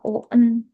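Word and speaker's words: を: Walaupun di alfabetnya ditulisnya Wo, tapi dibacanya O karena biasanya ini dipakai untuk partikel.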